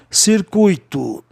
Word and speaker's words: circuit: Circuito, circuit. O grupo UIT tem um som de ET, ok?